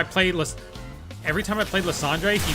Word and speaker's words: Lysandre: Every time I play, every time I play Landre, he say it's actually Lysandre.